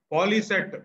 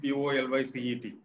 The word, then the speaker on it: POLYCET: If we say POLYCET, that is an abbreviation. If we pronounce it as a word, it is an acronym.